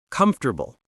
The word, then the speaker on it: comfortable: Let's play a quick pronunciation game. I'll say some tricky words, and you repeat. Okay, challenge accepted. Comfortable.